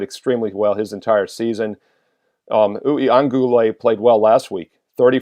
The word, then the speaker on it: Uiagalelei: It's Uiagalelei. I'm pretty close on that one. 6 syllables.